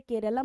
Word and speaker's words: केरलम: केरल का नाम अब आधिकारिक रूप से केरलम हो चुका है, तो केरलम करके हम उसे प्रोनाउंस करेंगे।